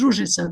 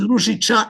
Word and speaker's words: Ružica: what to pronounce my name. When I introduced myself to him, I said, "Well, my name is Rouisa, which is in Serbian language dimminitive from rose